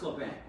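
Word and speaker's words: Labanc: So you would assume that he would really pronounce it LeBanc. It was always pronounced LeBanc.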